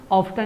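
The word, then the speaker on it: often: तो British accent में इसे ऑफ्टन ही बोलते हैं, लेकिन अमेरिकन एक्सेंट में यहाँ पर टी साइलेंट है।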